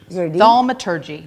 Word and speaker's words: thaumaturgy: One, two, three, four. Four syllables.